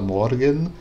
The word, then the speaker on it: Morgenstern: Na mesma forma que Morgenstern, né, que eu pronuncio Morgenstern, e ele fala Morgenstern, né? Ele pronuncia os dois E's.